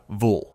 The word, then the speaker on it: Evil: He pronounces it Vul, the way a person might pronounce the name Neville, and he is not joking.